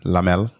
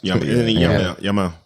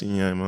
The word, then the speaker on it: Yamal: I'm gonna go for Yamin Lamel from Barcelona. Did I say his name right? Yamal. That's Yamal. I would have said Lamin, but maybe you're saying it right.